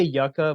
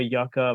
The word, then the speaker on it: yucca: created Marfa I say Yucca but Yuka is also a proper word for for it it just depends on like Regional differences and the way it's pronounced Yuka can also refer